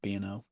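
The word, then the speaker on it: B&O: from people with two b o shares allen gary you know exactly i'm not doing it you know it's it's actually pronounced bno oh you know there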